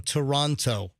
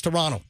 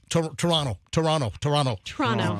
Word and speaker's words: Toronto: I got yelled at by a Canadian that I was saying Toronto. And you don't pronounce the T in Toronto, the ending T. It's Toronto, Toronto.